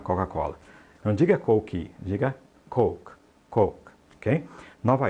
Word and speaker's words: Coke: aí por Coca coca-cola não diga coke diga coke coke Ok nova Y não diga New York